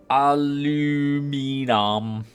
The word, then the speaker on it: aluminum: Aluminum.